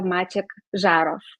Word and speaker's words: Maciej Zarow: thank you very much you pronounced my name as a Polish person completely so you you are not not you are not pronouncing it like like a foreigner very good okay I